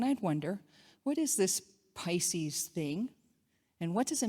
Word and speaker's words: Pisces: and how it had the word pisses on the side of it. She kind of laughed and asked me to show her the fish. She corrected my pronunciation and I had a new word in my vocabulary.